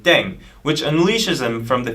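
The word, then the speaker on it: 땡: The pronunciation of "daeng" is similar to "thang", which is a slang of thing in English.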